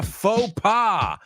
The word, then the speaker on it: faux pas: is over here H says I made a faux just be careful with the pronunciation it's not faux pass it's F so I made a fa we